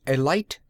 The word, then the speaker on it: Alight: and sole owner of the alight garage and he pronounced it with a long I automobile party's touring Wisconsin